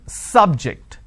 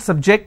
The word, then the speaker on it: subject: so i say bio biology is an interesting subject i'm i'm stressing on the first syllable okay now i'm using another example please don't subject the students to any tests so here my stress has moved to the second syllable for example when i